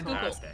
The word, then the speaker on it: Schuylkill: Yeah, is that how you pronounce it? Is it Schuylkill? Yeah. It's Schuylkill.